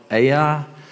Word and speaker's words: Ai: So this is the story of, I'm going to call it Ai. Some people pronounce it I, and it might sound funny when I say it, just I. So it's going to be Ai today.